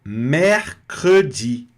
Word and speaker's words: mercredi: O primeiro E que apareceu, ele está com R. Então, ele vai ser pronunciado mais aberto, mesmo ele não tendo aqui um acento. Então, a letra E, no meio da palavra, sem acento, com a letra R, vai soar mais aberto. Mer. E aí, logo a próxima sílaba, que é o cr, já vai pronunciar o E.